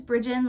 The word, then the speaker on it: Brijin: a little bit about me my name is bridgen like i said before it can be a hard one to pronounce so i'll put a pronunciation in the